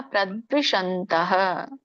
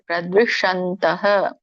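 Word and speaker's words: प्रद्विषन्तः: ಅದು ಹಾಗೆ ಉಚ್ಚಾರಣೆ ಬರುತ್ತೆ ಇದನ್ನ ಬಿಡಿಸಿದಾಗ ಪ್ರದ್ವಿಶಂತಹ ಪ್ರದ್ವಿಶಂತಹ ಪ್ರದ್ವಿಶಂತಹ ನಾವು ಕೂಡ ಗಮನ ಕೊಡಲಿಲ್ಲ ಅಂದ್ರೆ ಮತ್ತೆ ಶ ಆಗುತ್ತೆ ಅದು ನಾವುನು ಕೂಡ ಬೇಗ ಬೇಗ ಹೇಳುವಾಗ ಶನೆ ಬಂದುಬಿಡುತ್ತೆ ಬೇಗ ಬಟ್ ಸ್ವಲ್ಪ ಕಾನ್ಶಿಯಸ್ ಆಗಿ ಹೇಳಿದ ದರೆ ನೋಡಿ ಅವಾಗ ಗೊತ್ತಾಗುತ್ತೆ ಪ್ರದ್ವಿಷಂತಹ ಅಭ್ಯಸೂಯಕಹ ಅಂತ ಎರಡು ಪದಗಳಆಗುತ್ತೆ ನೀವು ಕೂಡಿನೆ ಹೇಳಿ ಪ್ರದ್ವಿಷಂತೋಭ್ಯಸೂಯಕಹ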